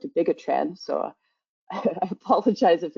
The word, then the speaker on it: dabigatran: So for example, here I'll be using, Mike had pronounced it differently. I call it dabigatran, so I apologize if